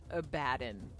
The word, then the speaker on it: Abaddon: his name edgy yeah the way that they pronounce it like the actual Games Workshop is a badon like a a bad one like that is literally his name and that's about it